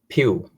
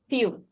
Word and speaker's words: few: Pew. Few. I guess the way you pronounce the letter F, it should be a little sharper.